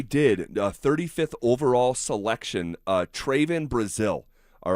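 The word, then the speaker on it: Trevon: Uh Tven Brazil. All right. And I know his name is spelled T R E V O N. like you know Trayvon.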